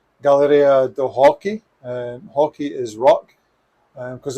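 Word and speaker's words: Galeria do Rock: to a place called galleria do hockey and hockey is rock because in brazil you don't pronounce the r as an r so that's just at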